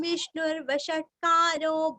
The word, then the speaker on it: विष्णुर्वषट्कारो: विष्णुर विष्णु का श्नु रस्व और व के ऊपर का रफा हमें श्नु को जोड़ के लेना है विष्णुर।